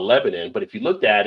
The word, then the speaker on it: Lebanon: So the locals will tell you, no, it's Lebanon. Sure, that's not an I on that. Sure, that's it. It's Lebanon. All right, I'm not going to argue with the locals. It's what y'all want to be. Whoever told you that's fine to you. But you go over to the Middle East, they got the same spelling, and it's not pronounced the same.